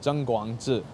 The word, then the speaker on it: Tseng Kwong-Chi: Tseng Kwong-Chi, but it's actually pronounced Tseng Kwong-Chi.